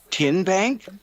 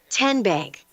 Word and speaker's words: TN Bank: How do you say the name? TN Bank. Nope. Tin Bank. Uh-uh. So, what is it? 10 Bank. 10 as in Tennessee.